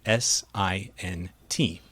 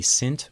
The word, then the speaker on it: SINT: In this case, the correct pronunciation should sound like pint, not mint.